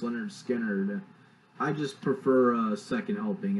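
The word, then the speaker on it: Lynyrd Skynyrd: there are more recognizable songs that are on pronounced Leonard Skinner, I just prefer Second Helping.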